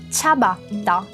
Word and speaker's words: ciabatta: Temos dois T's, então temos uma pausinha. Vamos começar pelo final. Tá. E depois temos o cha, que é o mesmo tchau do tchau. Vamos juntar tudo. Ciabatta.